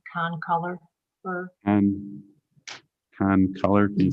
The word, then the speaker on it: concolor fir: I think you said conifer, but it's concolor fir. Con color, can you spell that?